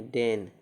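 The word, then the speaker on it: deign: तो डी ई आई जी एन है ना, ई आई के बाद जी एन है, इसको क्या पढ़ेंगे? डेन, डी ई आई जी एन, डेन, डेन मतलब अनुग्रह करना।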